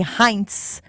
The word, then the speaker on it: Heinz: would have liked, but apparently Heinz is German, and the Z is a TZ.